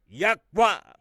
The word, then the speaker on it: Yahweh: tribes of Israel, was four letters, which we pronounce Yahweh, YHWH.